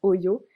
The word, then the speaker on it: Ollo: ça vient oui euh oyo en fait ça s'écrit o de l et et c'est les